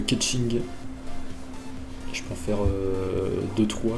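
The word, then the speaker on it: Keqing: Keking apparemment, qui se prononce Ketching.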